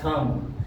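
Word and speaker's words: thumb: जैसे कि bomb, M के बाद में बी आया है तो बी साइलेंट रहेगा, बॉम्ब, कॉम और थम, यहां पर भी साइलेंट रहेगा।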